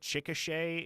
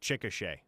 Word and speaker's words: Chickasha: Yeah, well, for instance, like, if you don't know any better, you would not guess that Chickasha is pronounced Chickasha.